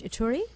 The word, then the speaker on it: Ituri: DRC and only to the, I believe it's pronounced Ituri?